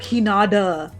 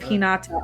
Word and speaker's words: Hinata: It's not unheard of, and they'll still say names weird, and I'm like Hinata instead of Hinata.